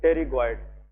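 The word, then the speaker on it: pterygoid: और नेक्स्ट यहाँ पे लेके मीडियल टेरिगॉइड मसल। मीडियल, इसमें पी साइलेंट है, that is टेरिगॉइड, medial टेरिगॉइड muscle.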